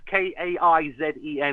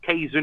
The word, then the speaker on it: Kaizen: That's Kaizen. It's not Kaizen, it's Kaizen. It means for better in Japanese.